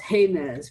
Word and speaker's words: Jemez: been set forth by frontline communities from the jemez principles of democratic organizing or actually yesterday i learned because i met someone from jemez that is pronounced heinz principles but of democratic organizing the um environmental